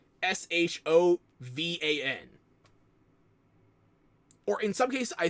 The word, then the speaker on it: Siobhan: They spell it more like Shodan than Siobhan. Like, Shovan.